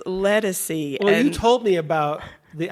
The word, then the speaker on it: Ledisi: her Ledisi I I have a hard time pronouncing and I I said it's Ledisi and told me about the album yeah I